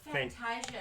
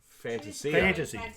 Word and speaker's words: Fantasia: But Orazio how do you say it? Fantasia, but some people... Fantasia.